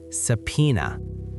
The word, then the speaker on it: subpoena: For my advanced learners, notice that the P is silent. We say subpoena.